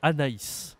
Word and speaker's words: Anaïs: a aussi d'autres possibilité le prénom en français Anaïs c'est un prénom très populaire en français Anaïs